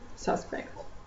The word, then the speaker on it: suspect: So I would like to draw your attention to the stress in the word suspect. The first syllable is stressed.